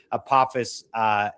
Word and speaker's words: Apophis: It's the asteroid Apophis, or Apophis, but it's really Apophis, in its proper pronunciation, to come by on